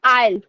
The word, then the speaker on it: aisle: So guys, S is silent here. It is called aisle.